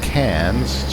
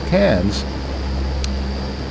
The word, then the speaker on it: Cairns: Brisbane to cans and that's spelled c a i r NS and I am reliably assured that that's pronounced cans Probably sounds better in the original Australian but it is not C s or or can it is apparently cans the reason why we